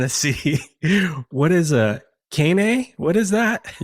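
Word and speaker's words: kāne: Hawaii and you see two signs, one saying cane and one saying waheen, just know that they're very important words. Okay. So the first one it would actually be pronounced Kane.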